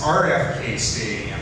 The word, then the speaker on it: RFK Stadium: They lived there, and I couldn't believe they got the stadium name wrong. It's RFK Stadium.